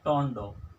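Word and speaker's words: tornado: Fourth में क्या है, टोंडो, इसको पढ़ते हैं टोंडो, ROR इसमें साइलेंट है, तो टोंडो का मतलब होता है बवंडर, बवंडर।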